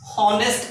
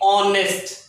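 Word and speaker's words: honest: इज देस ऑनेस्ट man eighty H होची हॉनेस्ट आमे पढुनु हॉनेस्ट नहीं एटी होची ऑनेस्ट ऑनेस्ट ऑनेस्ट eighty H आमे साइलेंट रोची तो ऑनेस्ट ऑनेस्ट थिबारु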